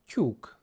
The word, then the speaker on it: tyúk: And our example word for today is tyúk, tyúk, which means chicken. To help with the pronunciation, it sounds a little bit similar to when the English say tube, YouTube, for example. Tyúk.